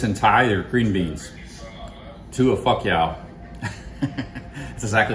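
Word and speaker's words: ถั่วฝักยาว: To a fuck yow.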